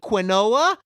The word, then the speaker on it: quinoa: Make a nice side dish of quinoa, or if you like to pronounce it quinoa, make some of that.